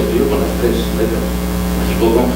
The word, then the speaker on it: México: ya se sabe que la X se pronuncia como J. Tiene el mismo sonido.